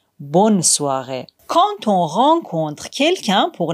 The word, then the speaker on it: bonne soirée: En revanche, dans bonne journée et bonne soirée, le N est bien prononcé. On dit clairement bonne journée, bonne soirée.